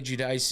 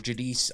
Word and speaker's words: Judice: with this one, but Carly Judice is uh Judice, I they kept saying Judice, so I guess that's how you say it.